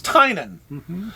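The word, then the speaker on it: Tynion: or anything or i did learn how to pronounce uh the writer of department of truth's name okay tynan it's tynan all right so i've been wrong i've been calling him tinney and a lot of people call him but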